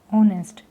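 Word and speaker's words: honest: आपका ऑनेस्ट मैन ऑनेस्ट तो इसमें एच साइलेंट हो गया है का एच साइलेंट होने के बाद आपका बचता है ऑनेस्ट तो ऑनेस्ट जब आ रहा है तो यह साउंड कर रहा है ओ की लेकिन अगर आप इसके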